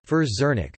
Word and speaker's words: Frits Zernike: Frits Zernike, Dutch pronunciation, Frits Zernike, the 16th of July